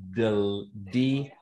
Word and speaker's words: DeLongalunde: And for those keeping score at home, it's DeLongalunde. I've been pronouncing it incorrectly.